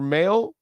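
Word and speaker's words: Mahle: Anyway, Cueto and Mail, I want to say, is Tyler Mail, is the way it's pronounced.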